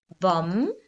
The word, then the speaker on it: bomb: Now remember, the silent B has a M before it. So we've got thumb, lamb, crumb. So I missed some crumbs when I ate my cookie or my biscuit. Bomb.